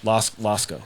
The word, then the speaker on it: Losko: Losko.